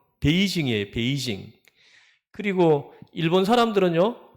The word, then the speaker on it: 베이징: 그리고 예를 들어 보면은 뭐 북경도 그 중국의 수도가 북경인데 우리 발음으로론 북경이지만은 중국 사람들 발음으로는 베이징이에요.